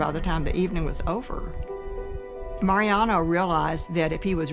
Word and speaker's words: Mariano: Okay, my name is Mariano Martinez, pronounced in Spanish, Mariano.